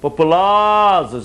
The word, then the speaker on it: populosos: Na letra D, por exemplo, no singular, o vocábulo populosos, além de perder o S final, sofre mudança de timbre da vogal central da sílaba tônica, ou seja, populoso, plural, populosos, olha aí a alternância vocálica, não é isso?